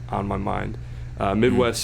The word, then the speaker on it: MIDWXST: Midwest spelled with an X. So go check him out. Where's the X at? MIDWXST. Midwest. All right, bet.